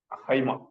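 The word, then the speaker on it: αἷμα: Okay, ஹைமா ஹெச் சொல்லி pronounce பண்ணோம்.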